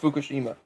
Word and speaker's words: Fukushima: Now you have to say Fukushima.